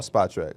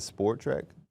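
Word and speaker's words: Spotrac: Oh, Spot Track. I think I said Sport Track. It's I don't know which one it is. So that's why I asked. It's spot. There is no R in sport.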